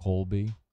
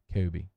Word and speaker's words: Colby: I would just go Cody or Kobe, not Colby. Colby. I have a problem saying that word. Colby. My mother-in-law's maiden name is Colby, but she doesn't pronounce her L's. She says Kobe.